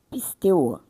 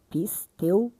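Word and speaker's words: πιστεύω: Eh, pisteuo, pronúncia grega, pisteuo, tá?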